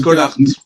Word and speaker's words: Schollaert: Je ne sais pas si je prononce bien. En Belgique, on En dit tout cas, Scholart.